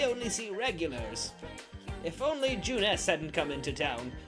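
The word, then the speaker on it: Junes: but now we only see regulars if only Jeunesse hadn't come into town it's convenient but it's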